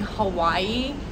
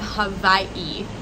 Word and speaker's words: Hawaii: But if it's in the middle, it's a V. So everyone in the U.S. is saying Hawaii, but here they call it Hawaii.